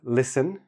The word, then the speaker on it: listen: these words for example listen no T plumber no B Dum